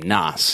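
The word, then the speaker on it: Knass: Keith Noss, I believe that's how you pronounce his name, Noss. It's like K-N-A-S-S, like a silent K.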